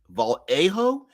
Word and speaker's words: Vallejo: Deadman says technically it's Vallejo's name is pronounced Vallejo. It's how he pronounces it, though it could be pronounced Vallejo.